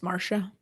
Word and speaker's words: Marsha: Was it Marcia or Marsha? It's Marsha.